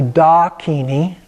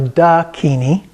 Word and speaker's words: Dakini: have Dakini and again it's not exactly dhakini it's more of a dhakini and then we have